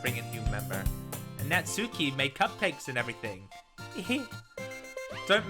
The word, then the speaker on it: Natsuki: How do you pronounce it? Natsuki? Sayori? Teach me. Natsuki, Sayori, Monika, Yuri.